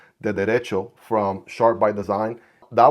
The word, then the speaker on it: Derecho: I also checked out the Derecho, I'm Hispanic, right? I'm gonna say it right. The Derecho from Sharp by Design.